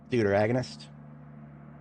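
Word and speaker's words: deuteragonist: With a hard T.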